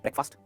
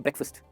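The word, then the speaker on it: breakfast: ब्रेकफास्ट गलत pronunciation, इसे कहते हैं ब्रेकफास्ट।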